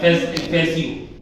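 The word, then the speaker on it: fascio: तो यहाँ पर एक ये जो फासिज्म है, ये फासिज्म वर्ड जो है एक इटालियन वर्ड से आता है जिसका ये प्रोनाउंसिएशन होता है फैसियो।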